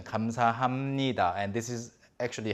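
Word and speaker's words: 감사합니다: ha ha me ha but nobody ever says comes ha ha NIDA except for maybe some potentially comical situations people always say more fluid a more natural pronunciation comes aa hamnida and this is actually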